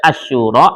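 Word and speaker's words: Asy-Syura: Surah tuh ada Asyura, ada Asyu'ara. Ya, harus pas bacanya ya. Jangan sampai nanti Asyuara itu surah 26 kan.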